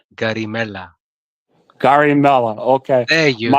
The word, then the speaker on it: Garimella: If you can say mozzarella, you can say garimella.